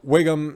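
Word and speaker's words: Whigham: wingham her yeah well it was way pronounced wiggum like you know chief and symptom simpsons ralph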